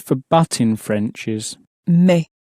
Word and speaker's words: mais: The word for but in French is Mais. Mais.